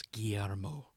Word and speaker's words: Guillermo: First of all, it's Guillermo. Learn to say it correctly.